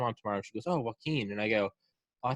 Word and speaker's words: Joaquin: Is it It's Joaquin. Joaquin? You know, like Joaquin Phoenix?